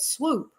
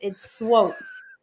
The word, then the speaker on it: Swope: A lot of people pronounce it swoop. Oh, and, yeah. And I don't know where they get that because of the way it's spelled, but I kind of like it. It's like, swoop you up. But yeah, it's swope.